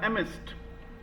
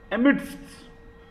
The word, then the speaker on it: amidst: Actually इसमें हल्का सा डी साइलेंट रहेगा, एमिस्ट, एमिडस्ट नहीं बोलेंगे।